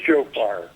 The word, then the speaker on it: shofar: were blowing on a what what how you pronounce this a uh it's a show fire it's a wrestler tell me about the shofar well you know as i said yom kippur